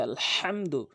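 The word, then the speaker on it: الحمد: এখানে বলতে হবে আলহামদু। হা মিম জবর হাম হাটি হচ্ছে হলকের মাঝখানে এই হা আর আইন এটি হচ্ছে দুই নাম্বার মাখরাজ হলকের মাঝখান থেকে উচ্চারণ করতে হয় এই দুইটি হরফ আলহাম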